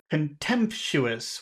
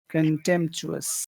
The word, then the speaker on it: contemptuous: Contemptuous. That means hate. That's Yeah. right. Where is the accented syllable? Which syllable has all of the force? Contemptuous. Which one? So in the middle part, uh, so con is